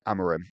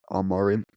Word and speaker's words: Amorim: Apparently, you're not supposed to say the A. It's like Amorim, but I didn't listen to him.